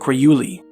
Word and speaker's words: Urayuli: The author, John Active, described an old Yupik legend about the wildman, referred to locally as the Urayuli [pronounced Oq-ra-you-lee] furnished by an elderly woman named Tunguyamarnan.